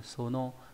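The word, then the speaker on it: 園: Ví dụ Eden no Sono ấy là vườn của Eden, một nhân vật trong câu chuyện đúng không nhỉ?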